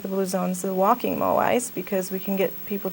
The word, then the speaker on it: moai: And there's like names you'll hear involved in the Blue Zones project, but one of them is a walking moai. Is that how you pronounce it?